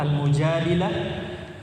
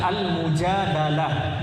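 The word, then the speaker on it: المجادلة: Surah Al-Mujadilah ayat 11. Al-Mujadilah, ikhwan, itu bisa dibaca dua. Bisa dibaca Al-Mujadilah, dalnya di kasroh. Bisa juga dibaca Al-Mujadalah, dalnya di fathah.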